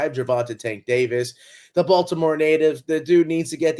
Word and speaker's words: Baltimore: I have Baltimore ties, and this kid is beloved in Baltimore. You always got to say it's not Baltimore, Baltimore. That's how they say it down there.